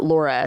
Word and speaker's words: Lauria: i a but it's they pronounce it Laura so find Laura Bible